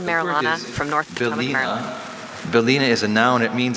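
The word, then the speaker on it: bylina: Belina is a noun.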